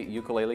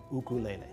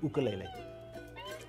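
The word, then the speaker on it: ʻukulele: Hawaiian correct pronunciation is ukulele put a little apostrophe in front of the U for that sound ukulele ukulele jumping flea wait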